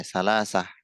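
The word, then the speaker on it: ثلاثة: Oke, salasah. Lamnya ditekan itu. Salasah.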